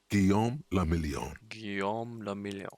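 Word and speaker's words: Guillaume Le Million: meant only one thing guillaume lamillion if it doesn't rhyme you're not pronouncing it out of the dazzling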